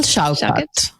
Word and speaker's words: Shaukat: Shaukat? Daniel Shaukat. would be the official pronunciation.